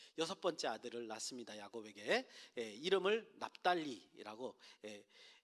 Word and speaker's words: 납달리: 이름을 납달리라고, 히브리어는 납탈리 이렇게 탈로 이렇게 발음하는데 납탈리 이렇게 했는데 8절에서 이제 그 납달리의 의미를 설명하고 있습니다.